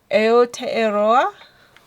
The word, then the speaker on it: Aotearoa: Aotearoa. I think that's how they say it. Again, please don't hold me accountable for mispronouncing that.